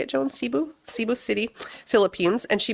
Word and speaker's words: Cebu: Cebu.